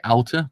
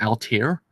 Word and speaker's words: Altair: I want to say Alta, but it's Altair. It's Altair, a record of battles, because it's not Alta. It's not spelled with ER. It's spelled ALTAIR. That's how you spell it. So it's IR, so Altair. So yes, we're back today